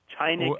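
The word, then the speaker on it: чайник: Oh, so China is a reference to, I guess, tshaynik is China. No, that's a coincidence that they're even. okay. the word that you're talking about that sounds like China is spelled in the transliteration that I use, Tshaynik.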